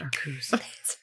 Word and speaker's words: Arceus: legends arceus game um it's pronounced our cruise oh there's going